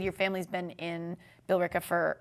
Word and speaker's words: Billerica: I say Bricka, so all right, I'll pronounce it. I don't want to be disrespectful. Billerica.